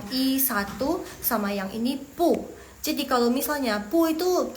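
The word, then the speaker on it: 不: By the way Jadi kalau misalnya belakangnya pu itu dia nada keempat jadi yang pu itu yang pu itu dia berubah jadi nada kedua jadi bacanya pu nada kedua ya guys belakangnya jangan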